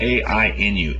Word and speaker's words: Ainu: This word is spelled A-I-N-U, Ainu.